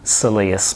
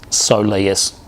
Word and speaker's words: soleus: you're applying it to your Silius muscle okay or soleus soleus depending on how you pronounce it okay so once again